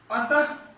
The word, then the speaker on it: अतः: विसर्ग, विसर्ग, इसका जो उच्चारण होता है ह के समान होता है।